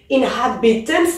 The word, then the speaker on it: inhabitants: Maintenant, dernière règle, si c'est un mot de 4 syllabes ou plus, alors on accentue sur la deuxième. Inhabitants, ça fait 4 syllabes. Et ici, je dois dire inhabitants.